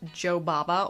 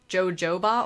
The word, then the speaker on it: jojoba: thought it was pronounced Jo Baba oil which doesn't even make sense like I thought it was jojoba oil that makes more sense I don't know why my brain wanted to double the boss syllable it sort of anyway